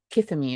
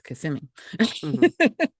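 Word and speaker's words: Kissimmee: I've done it's like it's not kissim me it's kassimi so so it's it's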